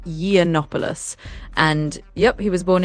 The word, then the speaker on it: Yiannopoulos: So, his last name is pronounced Yiannopoulos.